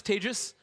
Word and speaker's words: Tejas: my best okay um my name is tagis that's pron like contagious I'm not contagious I